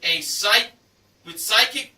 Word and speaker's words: Sykik: And an Acer 19.5-inch all-in-one desktop computer with Psychic Bluetooth speakers included. The brand is spelled SYKIK.